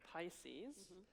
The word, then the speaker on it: PISCES: The R in Pisces is silent. I don't think I've ever said that before, but I think that's what it is.